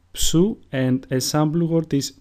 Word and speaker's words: Ψι: Ψι, which is pronounced ψου, and a sample word is ψωμί, which means bread.